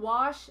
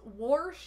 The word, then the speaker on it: wash: so solid i mean saying wash as warsh is just a weird thing that people do in indiana for some reason what that is not